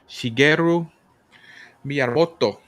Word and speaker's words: Shigeru Miyamoto: First time video game designer Shigeru Miyamoto. Hey, he said yes, sir. That's how you pronounce it.